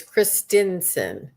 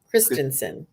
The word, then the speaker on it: Christensen: it's a little different it's christinson Christensen because we all say Christians say no but you get that a lot it's Kristen like Kristen Christensen I'd say it wrong all